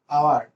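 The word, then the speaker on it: hour: আকৌ যদি মই এইচ অ ইউ আৰ লিখো, এটো কি হল আৱাৰ, আৱাৰ বুলি কওঁতে এটো কি আহিছে ফাৰ্ষ্ট লেটাৰ আ আহিছে, এইচ টো সাইলেন্ট লেটাৰ হৈ গৈছে, তো আৱাৰ হৈছে এটো।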